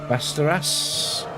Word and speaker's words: Västerås: Say it like in Got Westeros.